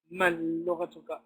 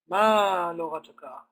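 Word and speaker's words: ما لغتك: on it, so therefore there's no reason to delete this alif and say mal lughatuka, but you will say ma lughatuka.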